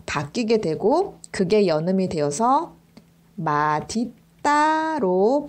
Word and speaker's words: 맛있다: 맛은 d 것으로 바뀌게 되고 그게 여름이 되어서 마디 따로 발음을 해야 됩니다 뒤에 이따가 아니라 없다 가 붙으면